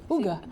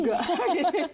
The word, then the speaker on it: hygge: La dernière fois qu'elle était là, c'était le Hygge. Ouga, oui. Ouga. Ça s'écrit H-Y-G-G-E et c'est un mot qui vient du danois parce que c'est un art de vivre danois, mais qui est très répandu dans les pays scandinaves.